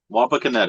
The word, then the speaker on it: Wapakoneta: Wapakoneta, Ohio.